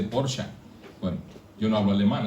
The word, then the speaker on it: Porsche: yo no un porsa dicen los alemanes que no se dice Porsche se dice porsa Bueno yo no hablo